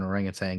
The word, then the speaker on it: orangutan: There's no G at the end, and I don't know why it's pronounced with a G. Beautiful. 10 years time, we're going to be typing in Captain Orangutan into Google, and your